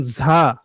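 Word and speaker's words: ز: আচ্ছা, এরপর দেখুন ঝা। ঝাটা হচ্ছে জিহ্বার আগাটা নিচের দাঁতের পেট ও আগার সঙ্গে লেগে উচ্চারণ হবে ঝা।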